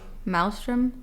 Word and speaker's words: maelstrom: I'm gonna edit this Mal how do you pronounce it Maelstrom m-a-e-l-s-t-r-o-m did you know that's